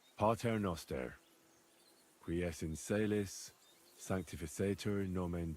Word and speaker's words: Pater Noster: You're saying it wrong. Listen. It goes like this. Pater Noster.